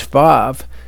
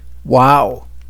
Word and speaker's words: vav: However, some pronounce the vav as vav and some as wow.